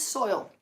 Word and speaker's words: soil: What is soil? Soil. Se pronuncia soil. Soil.